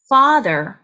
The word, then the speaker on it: father: 그래서 네, 턱을 아래로 쭉 내리면서 아 하고 조금 길게 발음합니다. Father, father가 아니라 father, father.